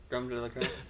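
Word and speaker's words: crème de la crème: How's my pronunciation on that? Yeah, that's fine. Creme de la creme?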